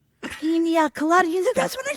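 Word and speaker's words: piña colada: full voice, I'll have penis colana and like I I I I don't even know what to think. So I look at my mother and I say it's pronounced pina colada.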